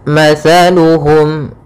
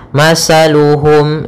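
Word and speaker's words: مثلهم: Pada bacaan mathaluhum di sini ada huruf tha. As-tha makhrajnya yaitu dari ujung lidah kita, ujung lidah menempel dengan gigi seri atas. Sehingga ketika pelafalan tha jangan sampai kita melafalkannya dengan masaluhum dengan huruf sin. Hati-hati, sering terjadi ya, yang kesalahan adalah mengganti huruf tha dengan huruf sin sehingga dibaca masaluhum.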